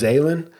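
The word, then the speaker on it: Zaillian: I think it's pronounced Zalen, Steve Zalen.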